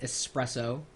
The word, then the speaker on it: espresso: peeves is how uh people spell or pronounce the word espresso it's not X there's no X in espresso that's okay even if